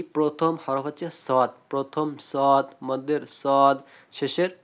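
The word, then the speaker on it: صاد: মাখরাজ মানে বলা হয়েছে জিহ্বার আগা সামনে নিচে দুই দাঁতের পেট আগার সঙ্গে লাগাইয়া সদ সিন ঝা।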